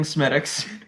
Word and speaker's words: Smithwick's: We are drinking Smittix.